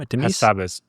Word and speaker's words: Hassabis: We have a Demis, how do we pronounce his name? Hassabis. Demis. Yes, Hassabis, yeah.